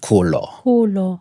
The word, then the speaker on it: Kholo: swana you know so you pronounce it kulo Ko means grow in